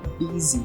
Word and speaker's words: busy: senão ninguém vai entender a palavra é que se pronuncia como busy então busy ocupado nós